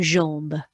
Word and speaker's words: jambe: Une, the J makes the fast car j. The AM is our new hand on the horn sound, on, with a B. Une jambe, une jambe.